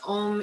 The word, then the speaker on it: Om: sound of a single Om together. And a reminder that Om is really 3 syllables, A, O, and it is the sound of yoga itself.